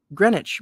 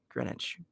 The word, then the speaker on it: Greenwich: calculating for four minutes is deducted from Greenwich Greenwich Mean Time I think that's how you say